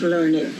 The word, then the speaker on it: Learned: Well, it's pronounced Learned.